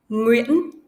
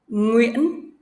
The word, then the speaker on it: Nguyễn: Now, I will break the word into smaller parts. E. E. N. N. Yên. Yên. Yên. Yên. This sound has the same pronunciation with the previous one. Uyên. Uyên. Nguyên, Nguyên, Nguyễn, Nguyễn, Nguyễn, Nguyễn.